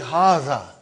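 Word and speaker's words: هٰذَا: See, it is pronounced like Haza. But this alif is not written.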